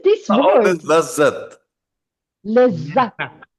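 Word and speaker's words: لذت: A little bit we stop on that. We emphasize lezzat.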